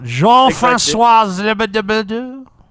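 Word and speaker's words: Jean-François: Jean-Francois? Jean-Francois. That's a very good pronunciation.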